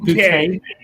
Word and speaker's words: Bucket: Yeah, it reminds me of a show called Keeping Up Appearances, where the lady's name was Mrs. Bucket, but she insisted on pronouncing it bouquet.